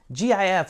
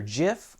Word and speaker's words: GIF: GIF is pronounced as either GIF or GIF.